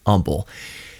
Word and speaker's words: Humble: are not from Houston you spell Umble h u m b l e it is spelled humble but it's just a colloquialism locally that it's humble that's how you can tell people from out of town it's the same anywhere